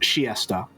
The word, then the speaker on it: Chiester: the chiester to Winchester and also apparently it's pronounced shiesta might just be a